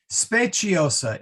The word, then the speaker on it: speciosa: back to me okay spaciosa and and yeah espaciosa with a soft c or the chit sound not the s sound and it is stab